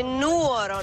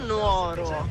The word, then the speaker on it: Nuoro: sentite qua Vi prego si dice Nuoro non Nuoro Ecco quindi come si dice